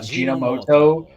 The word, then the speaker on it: Ajinomoto: Wow, I butchered that in my head. I thought Ajinomoto, like Gen was right. It's Japanese, so there we go.